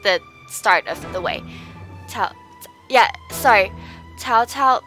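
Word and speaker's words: 曹操: Cao Cao pronounced like that as Chou. And so there's Cao Cao or also Chou. Depends on Cantonese or Mandarin.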